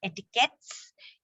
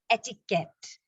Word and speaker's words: etiquette: is not etiquette and it is not etiquettes, it is etiquette. Very clipped. It comes from the French. It's a French word actually, which translated means a ticket.